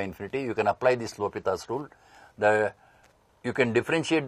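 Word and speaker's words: L'Hôpital: students read me says L hospital rule but he is a French mathematician it should be pronounced as l'hopital's rule so this is in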